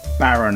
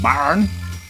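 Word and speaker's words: Bären: This one is called Baren Weisse, but it's not Baron as in dukes and barons. I think it's pronounced Baren, which is bear.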